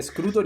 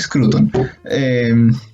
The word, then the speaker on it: Scruton: Dije Scruton y No, casi me aquí muero. hay que ser hispanista tradicional y si se escribe Scruton, se dice Scruton.